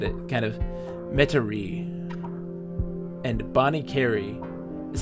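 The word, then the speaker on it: Bonnet Carré: And Bonnie Carey is how the spelling name is. Bonnie Carey? Okay. My Bonnie Carey.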